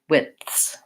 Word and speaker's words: widths: position so north star fifths widths it's a little harder in these because I have an additional consonant before my th sound we have a question